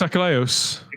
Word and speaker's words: Achilleos: How do you pronounce his name? No, it's not Peter Angeli. Chris Achilleos.